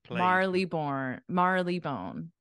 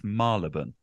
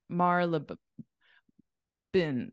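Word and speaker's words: Marylebone: that's true all right Marley bone no not far actually not far yeah so it's it's malabon Marlin Marla Marla bin bin I I would say bone but some people people say but but yeah it's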